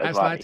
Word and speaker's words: Aslatei: next guest, Adam Cohen-Aslatei, if I'm pronouncing Aslatei. Am I pronouncing that right, Adam? Sorry. You got it. Aslatei? Yeah. Okay.